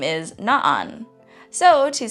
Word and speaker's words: na'an: So rather than just saying nan, it's na'an.